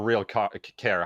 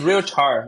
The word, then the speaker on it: RealChar: through how do you is it real Char or real care how do you say it yeah it's a real Char so real time yeah